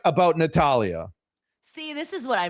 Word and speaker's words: Natalya: Your ridiculous argument that it's pronounced Natalia has been proven wrong by Natalia herself. in a promo where she said clear as day, and I quote, as God is my witness, Natalya.